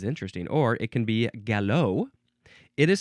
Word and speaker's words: galop: Or it can be galop. It is spelled Galop, so it looks like gallop or gallop, but it is, well, gallop.